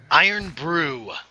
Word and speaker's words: Irn-Bru: brew we've we've gone over this before it's pronounced I improved iron brew made with real no real man it's pop